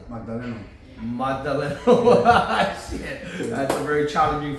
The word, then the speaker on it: Magdaleno: Magdaleno. Magdaleno. Shit. That's very challenging for the pronunciation.